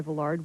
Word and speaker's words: Villard: his name as Villard it does not he said rhyme with Willard and the D is not pronounced the accent is on the last syllable it's Villar other than